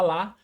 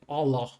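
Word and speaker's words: الله: Alá. Aqui a gente fala lá, mas a pronúncia é oló. É bem fechada. É como se tivesse um sapa na boca, sabe? Oló.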